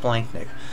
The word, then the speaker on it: splanchnic: Look, the CH is pronounced like a K, so even though it looks like splanchnic, it's normally pronounced splanchnic.